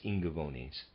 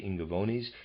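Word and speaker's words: Ingaevones: the year readers aside i'm pronouncing i n g a e v o n e s as ingavonis sorry and of readers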